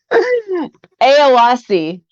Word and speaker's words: Éoaccí: Eoacci. Eoacci.